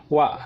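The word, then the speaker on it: は: This is spelled as ha but pronounced as wa.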